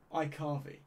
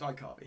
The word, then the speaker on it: iCarvey: iCarvy, right? There we go. It's pronounced iCarvey. Hello, iCarvey.